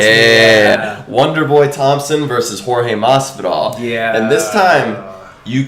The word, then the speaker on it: Jorge Masvidal: Where George, how do you pronounce his name? Jorge Masvidal.